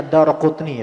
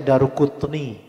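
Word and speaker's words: الدارقطني: Bacanya Ad-Daraqutni, ikhwan. Banyak dari kita bacanya Daruqutni. Yang sahih adalah Ad-Daraqutni, ya.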